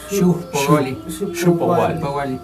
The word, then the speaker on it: xiuhpohualli: La H se pronuncia como J aspirada. Xompowali.